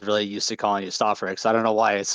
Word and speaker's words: Stofferex: Oh yeah, by the way, it's technically pronounced Stofferex. I know a lot of people say Stofferex, which is acceptable, but the way I see it, it's Stofferex. Okay, I figured. Like I said, when some people ask me, like, oh, how do you pronounce it? Well, it's basically like the word stove, except it's stove and then a Rex.